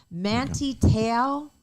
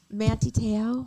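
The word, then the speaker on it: Manti Te'o: maguire there we go manti tail is that how you say his name he was the football player who was catfished he went to notre dame he was like a start manti teo i thought you were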